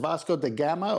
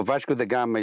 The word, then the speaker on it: Vasco da Gama: firmament so many is is it bosco the gamma or kaio did i say it wrong no vasco da gama is one guy yeah yeah yeah okay i said it wrong the last part yeah i have a